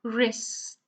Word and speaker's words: wrist: In the first one is the W, so you start pronouncing with the R, wrist.